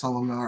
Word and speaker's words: Solomonar: How do you spell that? Salomonar. Yeah. With letters. Well, okay. S O L O M O N A R.